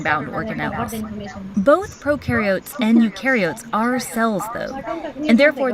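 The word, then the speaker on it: eukaryote: on the other hand remember you rhymes with do and they do have a nucleus and other membrane bound organ both procaryotes and ukots are cells though and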